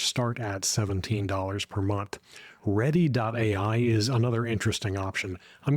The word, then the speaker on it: Readdy: Ready.ai is another interesting option. I'm going to spell that one for you.